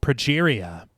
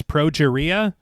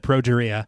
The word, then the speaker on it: progeria: And I did notice that in the film, Sarah says progeria, and that's not how you pronounce it.